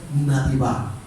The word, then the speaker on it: nativá: Y la pronunciación es nativá.